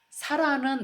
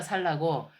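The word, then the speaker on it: sāla: 그러니까 사라는 나무 이름이거든요. 살라나무인데 이게 약간 이게 빨리어가 살라고 살라가 사라라고 이제 그 뭐 발음이 되기도 하니까 사라.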